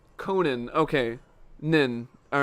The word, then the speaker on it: Conan: trying to time it right all right it's pronounced Conan okay nin all right I've been saying it